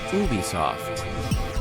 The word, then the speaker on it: Ubisoft: Company president Yves Guillemot says the official pronunciation is Ubisoft.